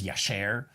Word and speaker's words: Jasher: the book of i i always struggle with how to say this jesher i'm gonna say jesher probably in hebrew it's yesher the book of jasher 4